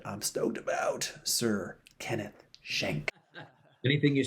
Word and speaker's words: Schenck: shank um and we're not going to call you skank we're going to say shank uh the only person